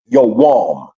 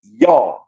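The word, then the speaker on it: יום: The Hebrew word that is being translated as day is pronounced in ancient Hebrew as yawam. In modern Hebrew, it's known as yom.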